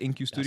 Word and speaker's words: InQ Studios: InQ Studios?